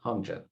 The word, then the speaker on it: Hongjin: Anyway, she saw Rob, it's simply Hongjin. Hongjin. Hongjin. Okay, good, Hongjin.